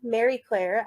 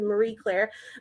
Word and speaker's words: Marie Claire: Claire so and Greg I appreciate you pronouncing It the French way Mary Claire as it is intended but we Americans um bastardize the word down to Marie Claire but so I started